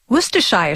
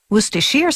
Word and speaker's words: Worcestershire: its name can be a bit of a tongue twister worshire sauce wacher sauce wer sauce all those pronunciations are acceptable as are the endless